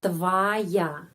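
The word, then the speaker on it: твоя: Objavlnya terus kita menulis tvoya tapi pengucapannya tvaya. Kenapa? Karena penekanan di sini di sini a tvaya.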